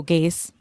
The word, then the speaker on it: Gase: They should give up on something that rhymes with Chase. Oh, Gase.